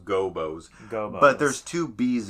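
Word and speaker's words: Gobbos: I was corrected in middle school in that it's pronounced Gobos.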